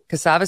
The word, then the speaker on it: Cassava: to you about a different drug made by cassava sciences is that how you pronounce correct cassava sciences this one was called some now this